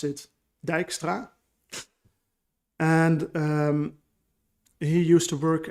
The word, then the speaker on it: Dijkstra: for all of you non-native dutch people you pronounce it dijkstra and he used to work at andover university